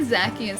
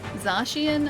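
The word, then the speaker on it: Zacian: I say Zakian still. Zashian, I think is how you're supposed to pronounce uh Zakian's name.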